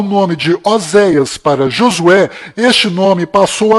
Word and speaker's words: Oséias: Este nome que você está vendo é o nome de Oséias, que do qual Moisés mudou para Josué, mas a pronúncia correta de Oséias é Rochéa.